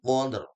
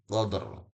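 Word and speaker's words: قدر: Sehingga bacanya bukan qad tapi qadr. Qadr ya qadr. Jadi kadang kita dengar fi lailatilqad maka rnya enggak ada efek pasti salah.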